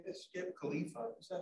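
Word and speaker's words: Califa: And then director of, how do you say this, Skip Khalifa? Is that how you say it? Yeah. Khalifa, which is a consortium of California law, large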